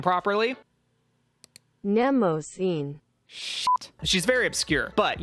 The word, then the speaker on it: Mnemosyne: I think I just like her because I'm proud that I can sort of pronounce her name properly. Mnemosyne.